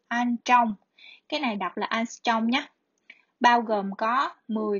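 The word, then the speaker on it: ångström: Cái này đọc là angstrom nhé.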